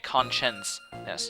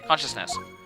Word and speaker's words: consciousness: I keep pronouncing it conscience-ness. But anyway, consciousness.